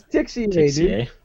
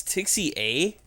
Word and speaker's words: Tixier: tixier guy is gonna am I saying it wrong it's tixie a it's tixie a yeah even I know that it's r r is an a the r is silent that's Jason where's the